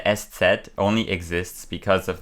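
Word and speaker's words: ß: right so um so s set right is a letter that only exists in the German language uh it's called s set but you pronounce it s it's like a sharp s and uh the origin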